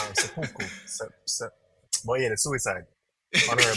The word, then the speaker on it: seppuku: Because the thing is, I even knew about Sepenku, or Um, no, let you say it wrong. I can't say it right. Seppuku.